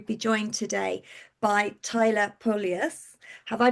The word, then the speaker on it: Polius: So hello and welcome to today's conversation and I'm delighted to be joined today by Tyler Polus. Have I pronounced that correctly?